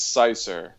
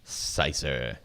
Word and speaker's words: Seisser: which is it's a German name, and when District 97 was on tour in Germany, I was grilling all the German people, be like, "Hey, how do you pronounce my last name?" And every single one of them got it right.